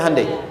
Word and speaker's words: Hyundai: Hyundai kan dibacanya Hyundai, ya kan?